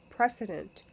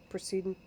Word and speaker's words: precedent: viewed as a condition precedent to payment. Precedent precedent. Potato, potato. Okay, you get it? That's the way I pronounce it.